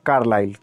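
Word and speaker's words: Carlyle: यहाँ पर एरर है, टाइपिंग एरर है, कार्यालय लिखा हुआ है, जबकि इसका सही नाम होगा, सही प्रोनाउंसिएशन है कार्लाइल। क्या है दोस्तों, कार्लाइल।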